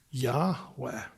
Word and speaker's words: Yahweh: When you refer to that person, pronunciation is Yahweh.